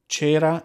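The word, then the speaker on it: cera: Cher not to be confused with Michael Sarah chera means wax go again go means drops but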